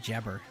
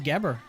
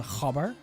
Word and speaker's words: gabber: white so yeah oh imagine pronouncing it as gabber and not jabber yeah uh it is gabber um we dutch we call the hover but yeah the the